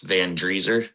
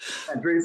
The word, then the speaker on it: Vandressar: It's kind of showing the two sides of Vandressar. Yeah. Yeah. Just heads up, it's Vandressar. Vandressar.